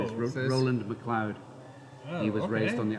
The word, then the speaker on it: MacLeod: where's the name from it's pronounced McLoud MH not mleo um in the you